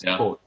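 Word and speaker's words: cwtch: And that's the Welsh word for a hug, by the way, coach. It's spelled Charlie, Whiskey, Tango, Charlie, Hotel. It's coach.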